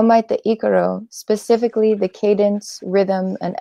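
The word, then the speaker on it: ícaro: When I hear somebody, even a shaman, say Ikaro, I know that it has been influenced by the Western, because it is pronounced Ikaro.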